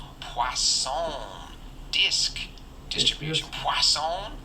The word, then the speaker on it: Poisson: Poisson. There's no W in it, but I was told that that's how you say it. I guess it's French.